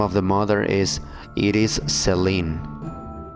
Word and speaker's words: Iris Sellin: By the way, the name of the mother is Iris Celine. Iris Celine. I'm pronouncing it the English way.